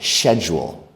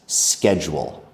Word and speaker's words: schedule: me say that word is different from how British people say that word. They say it something like schedule. That is fine, but if you want to sound like an American like me, we say it like this: schedule.